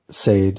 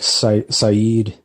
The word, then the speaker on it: Saeed: Nadia and Sade uh that's actually how the author pronounces the name Sade of course I thought it might have been like Saeed but yeah an audiobook he pronounces it as safe so not even say it and they're living